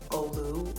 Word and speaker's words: Ole: So I've been saying Ole Henriksen, and I think it's like Olu or something like that. I don't know.